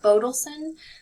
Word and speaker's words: Bodelson: two are not stressed bodelson again first one stress the next one's not so we use